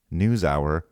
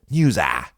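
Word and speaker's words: NewsHour: but all of them, instead of pronouncing it News Hour, it's always News-a. Newsa. And it kind of ticks me off. You're listening to Yeah, news. that's two syllables that they're just mashing into one.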